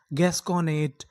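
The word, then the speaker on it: gasconade: डी ई, डा, क्योंकि ई का उच्चारण हमें करना नहीं, तो हमारी पूरी मीनिंग क्या बनी, गैस कॉनेड, गैस्कोनेट, गैस्कोनेट।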